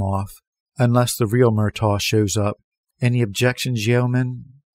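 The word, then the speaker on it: Murtagh: was forcing himself to go through with it myto he said and his voice broke on the second syllable Owen merto merang no registration the Wayne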